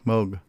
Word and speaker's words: Moog: soft G, Moog.